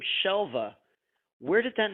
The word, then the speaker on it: Shelva: And I like to tell the story about Shelva's name because a lot of people pronounce it Shelva with a B, and it is Shelva.